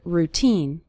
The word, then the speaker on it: routine: of your daily routine the syllable teen is stressed in the word routine you'll start seeing your